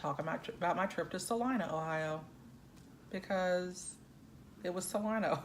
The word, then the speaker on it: Salina: I called it Salina for a whole 2 weeks, and then somebody that was from up that way said it's not pronounced Salina. It's pronounced Salina, Ohio.